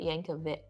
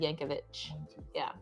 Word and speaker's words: Yankovic: the Al Yankovic story she said he pronounced it Yankovic didn't he and then yes and we've never pronounced it that way we've always said Yankovic we were wrong it was so good